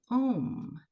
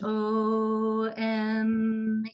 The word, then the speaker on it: Om: I think it is so wonderful that in the English language, the word home actually rhymes with the primordial sound of Om, this syllable that is so important to Sanatana Dharma and and other forms of Eastern practice.